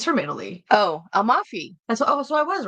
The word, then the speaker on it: Amalfi: It's from, how do you pronounce this? It's from Italy. Oh, Amalfi. So I was right. Okay, Yeah. so it's Amalfi.